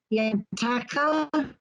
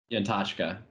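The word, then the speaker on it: Yantachka: Can you pronounce this? The legislator's name, Michael Yantaka. Yantashka.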